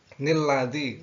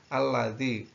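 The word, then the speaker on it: الذي: Nanti kalau menemui seperti itu, ya di awal ayat itu tidak boleh dibaca nilladzi, tetapi dibaca alladzi, kecuali berlanjut dari ayat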